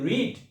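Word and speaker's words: read: walked আমি হেঁটেছিলাম আই রিড আই রিড যখন আমরা প্রেজেন্ট ফর্মে বলবো রিড পাস্ট ফর্মে এটা হয়ে যাবে বানান একই থাকবে স্পেলিং একই থাকবে বাট উচ্চারণটা হবে রেড কি হবে রেড এটা হবে রেড অর্থাৎ পাস্ট ফর্ম রেড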